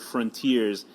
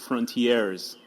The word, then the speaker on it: Frontier(s): cuz I'm an idiot didn't realize it's just the word Frontiers and I would always pronounce it Frontiers cuz I thought it was French like a a